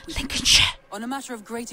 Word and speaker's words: Lincolnshire: Man named arrived I think it's pronounced Lincolnshire.